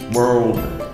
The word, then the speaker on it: world: difficult so we have the Earl Earl Earl world you can practice it at home right in the next accent in the receiving pronunciation the pronunciation is well well well alright